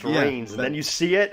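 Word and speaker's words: Reigns: But you're like, but it's pronounced Rains, and then you see it, and you're like, oh, that's good.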